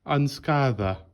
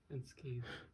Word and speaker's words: unscathed: You're saying it more like unscather. Fuck you, I'm saying it that way. Unscather. Unscathed.